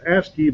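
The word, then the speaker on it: ASCII: a code called asci pronounced asy by all but the most anal retentive amongst us um it's one of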